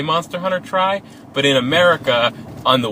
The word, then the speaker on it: Monster Hunter Tri: Monster Hunter Tri? Yeah, that's how you pronounce Monster Hunter 3.